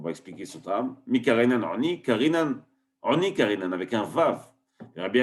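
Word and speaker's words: עני: C'est pour ça que normalement c'est marqué sans vav, c'est marqué Ain Nun Yud, donc Ani, mais on le prononce comme si il y avait un vav, Oni.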